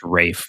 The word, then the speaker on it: Ralph: I believe his name is pronounced Rafe Fiennes, right? Sorry, Ray Fiennes.